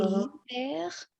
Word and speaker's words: hiver: Et l'hiver, c'est winter. How to read the last one? L'hiver. Mhm. Oui. So the H is silent for hiver.